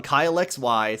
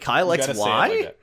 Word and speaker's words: Kyle XY: __ ] happens on Kyxy. So, tune in to Kylex coming out like a month or two. Kyle XY. Yeah, you got to say it like Kyle XY.